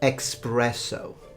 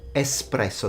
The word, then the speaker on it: espresso: It's not espresso, it's espresso. There is no X, although I have to say that in Italy no one really calls it like that.